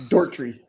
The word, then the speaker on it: Doherty: Eric, would you guys pronounce this Doherty or Doherty? It's Dortry.